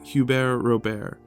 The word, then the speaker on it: Hubert Robert: man who called himself huber robear a man of two first names and very little respect for the pronunciation of the T's on the ends of either one of them you hold the t's